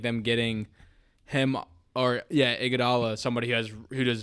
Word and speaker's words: Iguodala: you make of the Andre how do you pronounce the Iguodala yeah Andre Iguodala okay I was really worried I was gonna